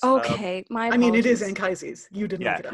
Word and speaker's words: Anchises: I mean, it is Anchises. You didn't make it up. Yeah. I'm not policing pronunciation because I, having agreed pronunciations at the top, I'm driving through them with a freight train.